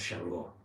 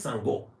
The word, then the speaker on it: Changó: en la Gran Colombia, le dicen Changó, ¿sí? Nosotros decimos Changó, ¿sí? ¿Qué va a ser? ¿Me podrías decir cuál es, que en realidad es Sangó, ¿no? La pronunciación correcta.